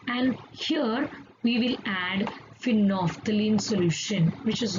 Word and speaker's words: phenolphthalein: So there is a special indicator that is called phenolphthalein. Let us pronounce properly, phenolphthalein, and this is acid base indicator, and what it will do, let us see that.